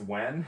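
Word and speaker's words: Nguyen: I'm talking about it's spelled ngu y-e-n it's pronounced when and I'm like is this the same sort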